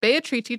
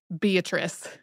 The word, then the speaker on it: Beatrice: done a podcast on bayatriti chenji who most English speakers would pronounce as Beatrice if you're thinking these letters aren't adding up to a name for me it's spelled the same way as Beatrice we had not done